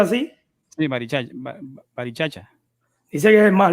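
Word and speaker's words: Barichara: ¿Se pronuncia así? Sí, Barichacha.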